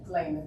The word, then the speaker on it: Lehman: wonderful person, writer, um how do you say your last name? Is it Layman? Layman.